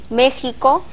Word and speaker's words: México: ¿Por qué escribimos México, Xalapa, Oaxaca, Texas y decimos México, Jalapa, Oaxaca y Texas? En el español antiguo, la X se pronunciaba con una CH, suave, que se convirtió en una H aspirada.